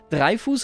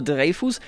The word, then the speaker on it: Dreyfus: I always have trouble with French names because, like Foch, they're spelled differently than they're pronounced. Dreyfus or Dreyfus? Let's say Dreyfus, convicted of treason.